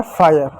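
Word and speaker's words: fire: जो आपका इ है इ जो किसी भी शब्द के अंत में आता है तो वो साइलेंट होता है। तो क्या हो गया? वह आपका हो गया फायर।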